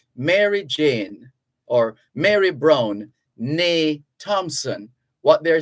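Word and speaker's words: née: n-e-e which is pronounced there's an acute accent over the first e so it's pronounced and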